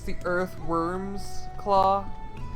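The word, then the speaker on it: wyrm: don't get it no do you know what a worm is you mean like the tiny dragon thing yeah an earthworm oh i didn't see it spelled like that yeah it's spelled w-y-r-m slow down i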